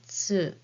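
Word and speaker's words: つ: And this is hiragana tsu, as in bats and cats. but the shape of your mouth is just like the one with hiragana u, and then say tsu.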